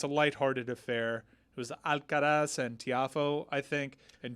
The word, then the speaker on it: Alcaraz: I always think it sounds too closely to Alcatraz.